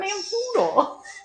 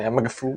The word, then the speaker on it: Namfoodle: How do you spell that, by the way? NAM, Yes. and then like poodle, but with an F. Oh, Namfoodle. Namfoodle. I thought it had a G. I thought there was a silent G for some reason.